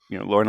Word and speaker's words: Lorne: I'm like, it's Lorne. Just one syllable. Keep it simple.